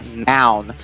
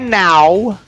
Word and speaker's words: noun: Essa palavra aqui chama a noun. Não é now, ok? Não faz o ao no final, faz noun, né?